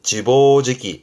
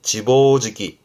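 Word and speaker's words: 自暴自棄: 자포자기 발음은 지보지기. 지보지기.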